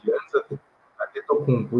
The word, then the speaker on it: Giannis Antetokounmpo: Giannis Antetokounmpo, isso. A pronúncia, pelo menos no português, a gente conhece